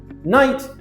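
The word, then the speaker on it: knight: Night with a silent K is a medieval person dressed in a suit of armor.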